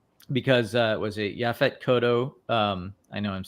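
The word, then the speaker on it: Yaphet Kotto: the cast um because uh it was a yaphet kodo um I know I'm saying that name wrong uh you got it right oh I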